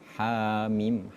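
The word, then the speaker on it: حم: Hamim dan membacanya kalimat hamim itu dua harakat. Tidak boleh lebih dari dua harakat.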